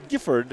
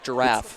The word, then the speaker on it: Gifford: It's Gifford. I thought it was giraffe. It's Gifford.